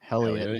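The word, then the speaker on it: Heliot: Helliot, yeah.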